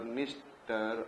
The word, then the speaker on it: Dniester: And here you can be able to see Don River, Dnieper River, Dniester, and then Danube. Don, Dnieper, Dniester, सब में DD है, and D is silent.